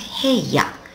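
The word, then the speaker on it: 部屋: bit weirdly it's pronounced heya here here and that's just a room any old room I remember it because my room is where I brush my hair I brush my hair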